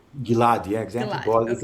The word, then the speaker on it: Gilad: Gilad? Gilad, yeah, exactly.